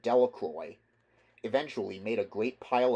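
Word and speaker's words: Delacroix: The villagers pronounced this name Delroy.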